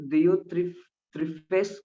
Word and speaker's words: Diotrephes: आप लोग कल क्लास में आने से पहले मैं किसी से पूछ सकता हूँ कि ये गयुस कौन है और दियोत्रिफेस कौन है और दिमोत्रियुस कौन है, ठीक है।